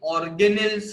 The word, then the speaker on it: organelles: अभी आप लोग बोलोगे सर ये organelles क्या है? Okay, please pronounce it properly, organelles.